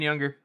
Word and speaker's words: Younger: Anyways, Rogan and Younger. The names are kind of funny. Younger is literally it's spelled exactly the same. We're not saying it weird. It's not YUNGER.